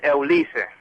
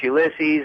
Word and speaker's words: Ulises: Well, in Spanish it's Ulises, but in English it's Ulysses, and I had to